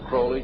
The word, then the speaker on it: Crowley: i learned about aleister crowley he likes to be have his name pronounced crowley to rhyme with holy and the satanist today